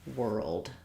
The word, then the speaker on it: world: down the word world, Most important to know is that those letters OR say the ER sound, so it's just like the word were. And then when I'm going from my R to my L, whirl, whirl, try to have a little bit of an sound before your L, whirl, and then add your D, whirled, whirled. Similar to the word girl, if you think about